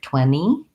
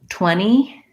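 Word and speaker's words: twenty: So I do have a video about pronouncing 20 and 2020, where we again leave that NT, that T sound out, and it sounds more like 20. But the difference between 20 and 20, I can't even hear that when I'm saying it.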